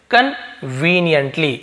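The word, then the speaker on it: conveniently: इसे क्या बोलते हैं कन्वेनिएंट कन्वेनिएंट इसे कन्वेनिएंट भी बोल देते हैं कई लोग लेकिन हम क्या बोलेंगे इसे कन वनि एंटली इसका मतलब होता सुविधाजनक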